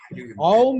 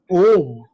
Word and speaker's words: Aum: Some institutions say that Aum is to be pronounced as A-U-M, Aum, whereas some say as Om.